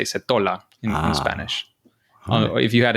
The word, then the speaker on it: Setola: honest all right well that's very much like Dutch people would pronounce it in Italy they would say seta seta yeah yeah in